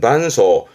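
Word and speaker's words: 伴奏: 그러니까 연주할 때 옆에서 반주하는 발음은 반소.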